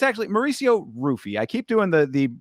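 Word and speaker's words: Ruffy: me this is Mauricio hoofy versus King Green it's actually Mauricio rufy I keep doing the the the uh Portuguese pronunciation but he pronounces it with the r and it's not even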